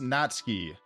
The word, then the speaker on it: Natsuki: could be like like Natsuki's name is pronounced Natsky. When you're pronouncing the two though, it's still the ooh sound is still there. It's just like quick. So I'm I might be doing it, but it would be like natski. It' probably be like more so like that. You would like hear the ooh still.